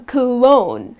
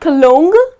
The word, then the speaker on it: cologne: If your man stinks, he needs to spray some cologne, to smell nice. So again the letter G here goes silent. It’s not cologne, but its cologne. That’s the correct pronunciation.